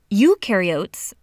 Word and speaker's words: eukaryotes: Eukaryotes, the U rhymes with do, they do have membrane-bound organelles.